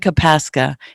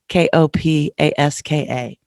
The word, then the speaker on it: Kopaska: My name is a little difficult. It's Kopaska, but it's spelled funny. And That's, not, not Michael. Kopaska, Kopaska.